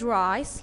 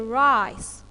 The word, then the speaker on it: rice: at the word rise look at letter C is it soft C or ward C yes it's a soft C I'm going to pronounce like because little it comes after it so when you have letter C in any word in English and after it comes I or Y I'm going to pronounce C like like here rise for example I